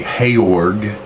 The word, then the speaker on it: Georg: next topic will be heyorg symbol his name's pronounce hey org a hayork symbol and it's written like George simmel but Taylor symbol